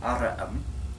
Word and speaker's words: aureum: Olim, Allison, et multi alai herores Graeci ad quoquidem navigo verant vellus aurum aureum Aureum, that's right. Three quaerent syllables.